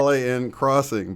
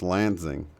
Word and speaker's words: Lansing: LAN crossing, but now you actually heard, or I'm sorry, it's actually pronounced Lansing, I guess, but it looks Right. like LAN crossing or alien crossing.